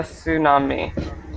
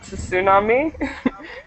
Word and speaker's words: tsunami: is is called a tsunami and um the important thing to remember is is not to pronounce that t so it's not tsunami it's just Tsunami Tsunami Tsunami it is